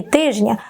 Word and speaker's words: тижня: спрощення в групах приголосних тому правильно проїзний і тижня без букви д у власне українських словах спрощення відбувається завжди крім винятків і часто це явище маємо і на письмі і у вимові тому прикметник проїздний загубив і звук д і літеру д від іменника проїзд та теж сталося зі словом тиждень тижня Тобто у буквосполуці ждн теж випав середній д є ще й інші